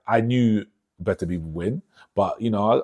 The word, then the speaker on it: Beterbiev: Artur Beterbiev.